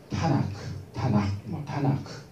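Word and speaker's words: Tanakh: 그래서 TNK인데 TNK를 묶어서 발음할 방법이 없잖아요. TNK라고 하지 않으면. 이걸 발음을 원활하게 하기 위해서 보조 모음인 A를 넣어가지고 타나크 이렇게 부릅니다.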